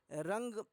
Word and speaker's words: रंग: रंग का उच्चारण होगा। रंग इसमें आप उच्चारण भी करेंगे अगर कान बंद करके तो आपको अंग सुनाई देगा।